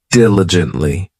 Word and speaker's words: diligently: time next we have diligently this adverb has four syllables and the stress is on that first syllable diligently it just means that